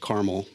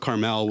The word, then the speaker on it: Carmel: like Mount Carmel or you know some people pronounce it Carmel but Mount Carmel would be where you know Elijah you know